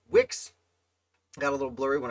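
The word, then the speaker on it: Wickes: okay 49 lambert wicks i've heard it pronounced wikis 2 which i know is wrong uh i believe it is wix got a little blurry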